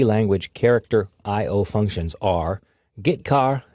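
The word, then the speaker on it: getchar: character IO functions are gitar and putar that's how I pronounce them gitar fetches a character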